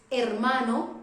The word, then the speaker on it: hermano: La H en español es muda, mute. H in Spanish doesn't have any sound. For example, in English we say hotel or hotel. En español decimos hotel. Hotel, hermano, brother, hermana, sister.